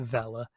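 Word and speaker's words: Vele: gonna say fellow twins it's spelt v-e-l-e but i have i i get the impression they want you to pronounce it vela even though when you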